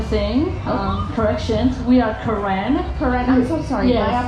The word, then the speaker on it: Karen: So I have to spell it out like K A R E N Karen but we pronounce Karan.